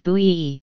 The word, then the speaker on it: Bowie: James Jim Bowie, pronounced slash B slash Bowie, c.